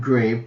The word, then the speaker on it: grave: It's spelled grave, but it's pronounced grav accent grav because I